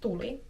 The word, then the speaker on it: tuli: So for example, the double vowels can be difficult in Finnish, so if you want someone to show you how to pronounce the difference between tuuli, which means wind, versus tuli, which means fire, or the past tense